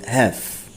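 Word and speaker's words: have: বাট এখানে হ্যাভ, এইচ এ এবং ভি ই, তারপরও এটার উচ্চারণ হবে হ্যাভ।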